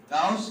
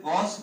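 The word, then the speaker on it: Gauss: में ऐसे भी आप देखिए गाउस लिखा रहता है, बहुत जगह है ऐसे गॉस भी लिखा रहता है, तो सब सही है, कोई गलत नहीं है, ठीक है।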